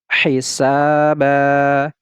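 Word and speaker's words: حِسَابًا: Ini tidak lagi kita baca ban, tetapi kita baca ba, panjangkan 2 harokat. Hisaba, hisaba.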